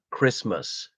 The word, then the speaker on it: Christmas: I cycle off for Christmas lunch those who are dear to me wow well uh Christmas but it's always just spelled christmass we never pronounce the T for some reason but then you can